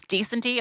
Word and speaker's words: Decenty: Yeah, it's just like decenty.